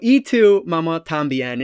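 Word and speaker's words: Y tu mamá también: is e2 mama tambien it's not y even though it is a y it's pronounced e so e to mama tambien and this was released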